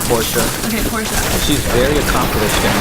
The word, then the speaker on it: Porsche: Porsche, right? That's how you pronounce it. It's supposed to be Portia.